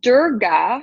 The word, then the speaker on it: Durga: power when I look at this card so Durga is how it's pronounced um she's really all about creating boundaries